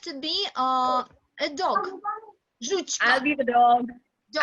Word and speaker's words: Жучка: Жучка. I'll be the dog. Dog. I'll be the dog. Okay. Nilanjana. Nilanjana will be a dog. Okay. Dog. Her name is Жучка. Everybody repeat after me. Жучка. Жучка.